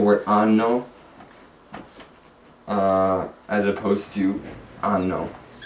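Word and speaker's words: hanno: Like you have the word anno, as opposed to anno. Both pronounced exactly the same.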